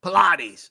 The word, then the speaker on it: Pilates: I'm ready all right here we go Pilates not you said it right every time